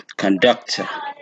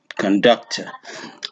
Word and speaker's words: conductor: the the central one the second one is also stress here conductor conductor and some on the